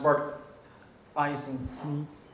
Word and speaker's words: Bart Eysink Smeets: I am Bart Eysink Smeets. In English, pronounced Bart Eysink Smeets.